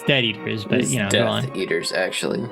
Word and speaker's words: Death Eaters: to do with the dead eaters uh it's basically the group of people that yeah combats the Death Eaters oh it's close okay yeah you said it wrong it's dead eaters but you know eaters